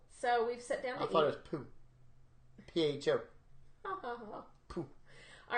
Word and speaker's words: pho: they have fun or as pho as I like to call it here in Southeast Tennessee but we all know that's not pronounced correctly and you can get really